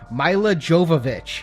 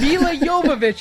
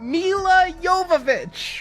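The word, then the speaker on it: Milla Jovovich: the commentary where Michelle Rodriguez kept calling her Mila Jovovich and she'd get so mad. It's Mila Yovich. If you can't say it right, no one will be able to say it right. Mila Yovich.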